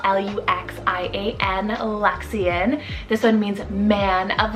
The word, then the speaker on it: Luxian: and swedish meaning secret luxian spell l-u-x l-u-x-i-a-n lexian this one means man of light damian spelt